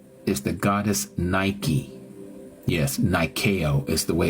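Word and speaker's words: Νίκη: Yes, Nikeo is the way it's pronounced in Greek.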